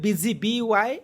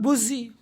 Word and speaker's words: busy: U is pronounced as E in the word busy, B-U-S-Y. Busy. It's not buzzy.